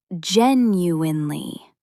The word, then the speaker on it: genuinely: It's genuinely. Four clear syllables, not squeezed into three.